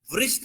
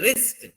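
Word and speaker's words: wrist: ఇక్కడ అన్నీ కూడా పలుకుతుంది ఓన్లీ దిస్ వన్ ఇస్ చాలా మంది పిల్లలు వస్ట్ అంటుంటారు వస్ట్ బట్ నో ఇట్ ఇస్ ఏ రిస్ట్ how should you pronoun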